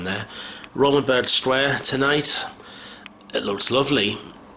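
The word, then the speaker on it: Römerberg: Then I've just been out to Romanberg Square. I said it wrong there. Romanberg Square tonight.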